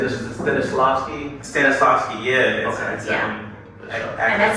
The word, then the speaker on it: Stanislavski: Stanislavski, yeah.